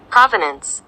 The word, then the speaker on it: Provenance: Sorry, এটা British উচ্চারণ, আমরা আমেরিকান উচ্চারণ দেখি। Provenance. প্রভিনেন্স, VUHNS। এখানে দুইটা হবে PRAA।